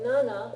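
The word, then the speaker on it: なな: And for 7, you say nana for the same reason, because shi and shichi could also be easily confused, right? Okay? So you have to enunciate ichi, yon, nana.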